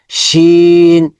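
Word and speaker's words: شين: হরফগুলো দেখে বুঝতে পারবোশিন শিনের মাখাল হচ্ছে জিহবার মধ্যখান জিহবার মধ্যখান উপরে তালুর সাথে মানে তালুর দিকে চলে যাবে ওই জিমের মতো জিম শিন একটু মোটা ওটা শক্ত হচ্ছে জিম শিন শিন এই হরফ নাম হচ্ছেশিন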